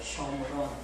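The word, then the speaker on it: שומרון: 읽는 것은 쇼므론이라고 읽어요. 쇼므론. 우리는 그냥 사마리아 이러는데 읽는 발음은 히브리 발음은 쇼므론이에요.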